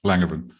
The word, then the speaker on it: Langevin: Helen Langevin. I don't know if I pronounced that correctly. Yes, Langevin.